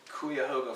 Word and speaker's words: Cuyahoga: Cleveland area the Cleveland area which is actually Kuya hoga falls out I feel like that's how you pronounce it not Cuyahoga Kuya the rod man's